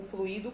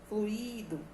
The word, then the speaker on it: fluido: Fluido. O correto é a pronúncia com o ditongo ui, fluido.